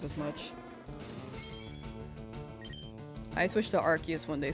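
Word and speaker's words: Arceus: year at Worlds and Rayquaza was the correct pronunciation is what they said. But they also said Archus instead of Arus.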